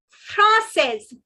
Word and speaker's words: française: introduce herself, she would be saying, je suis française. Je suis française. Did you notice the difference between these two? Je suis français. Je suis française.